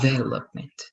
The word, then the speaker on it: development: this is good but be careful with the stress is development like here the development development good this also the